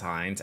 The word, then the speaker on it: Heinz: It is pronounced Heinz after Mike threw me off last week.